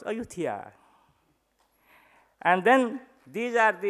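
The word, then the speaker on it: Ayutthaya: also here in Thailand this is the ayutthya of Thailand which we pronounce ayutthia and then these are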